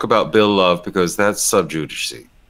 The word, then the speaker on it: sub judice: And they didn't really talk about Bill Love because that's sub judice. That's the right way to say that word.